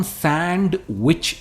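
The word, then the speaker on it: sandwich: तरफ जो है सैंडविच हम सैंडविच नहीं कहते हैं हम डी इसमें प्रोनाउंस करते ही नहीं ये है सैंडविच example the signature सैंडविच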